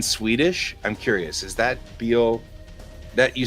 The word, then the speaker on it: bil: Is that bil that you said it comes from automobile? And so it's pronounced bil like we would pronounce bil, automobile, right?